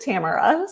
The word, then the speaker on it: Tamara: uh and I know my name can be said many ways but it's um my mom pronounced it Tamara so um yeah so